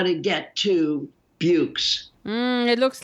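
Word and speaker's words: Buoux: books i'm not sure i would say raj bukes b-u-o-u-x it's really when i first saw the word i thought this is an impossible word but now i think it rhymes with dukes so yeah yeah that's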